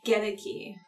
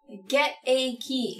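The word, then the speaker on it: Goedeke: Just a correction, it's Gedeke. Gedeke. Yeah. I've been saying it right. I've been saying it right. Just this only time. Slip back to Godwin. It's Gedeke. Gedeke. Get a key. Get a key. That's not how it's spelled at all.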